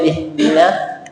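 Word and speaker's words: اهدنا: Ihdina. Jadi bacanya e harakatnya kasrah ya. Ih. Coba pelan-pelan. Ih. Ih. Ih. Ih. Ha. Ha. Ih. Ih. Ih. Ih. Iya. Jangan i-nya tebal.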